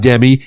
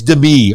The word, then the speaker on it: Demi: wrong emphasis on the wrong cabable it's not Demi it's Demi okay okay we got that we got that